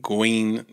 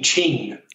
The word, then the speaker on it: Qing: Is it Gene Guin Su? Gene Qing Su. Gene Chinese is with the way the Q is pronounced. So Gene Qing, so it's pronounced Qing.